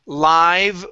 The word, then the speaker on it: live: Okay, this would be live worms. Okay, we would say live because it's in the adjective position and it's describing the worms.